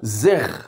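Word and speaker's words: זרע: Agora, na língua hebraica, a palavra é pronunciada como zer, ou seja, na pronúncia correta, o Z ele soa como Z de zebra. E o E, ele é curto como ele.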